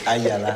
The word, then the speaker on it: Ayala: C'est Ayala. Ayala. Excusez la prononciation.